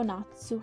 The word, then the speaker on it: 夏: tanti di narzo la pronuncia cui omi appunto natsu che si scrive in iran ha così questo e mezzo